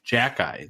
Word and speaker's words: Xhekaj: But the pronunciation of it is actually very easy. It's just Xhekaj, like JACK-EYE.